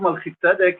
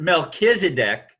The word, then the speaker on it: Melchizedek: from the higher dimension so the order of Melchizedek is of an order of universal features of